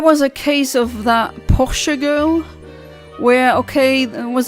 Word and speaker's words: Porsche: her dad's Porsche and it's not Porsche how Americans pronounce it's Porsche that's a cor correct pronunciation but anyway that's not the thing I'm talking about um getting distracted acted again.